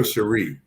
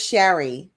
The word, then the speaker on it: Sherry: brother Good morning Sherry it's it's Sherry or Sheree well thank you it's Sherry Sherry okay good I see